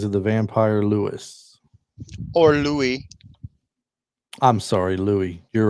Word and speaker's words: Louis: And so I knew it was Louis. I don't know why I said Lewis. It's spelled I've like Lewis.